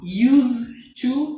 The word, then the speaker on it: used to: okay first of all be careful the pronunciation okay don't say is this sound use to no use s sound okay use to okay